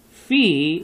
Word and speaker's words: Phi: Phi, like fee, fi, fo, fum.